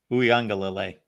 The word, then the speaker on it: Uiagalelei: Somebody pronounce it. Uiagalelei.